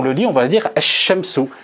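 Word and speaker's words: الشمس: Et là, si on le lit, on va dire ash-shamsu, ash-shamsu. Donc le lem ici ne se prononce pas et le lem ici se prononce.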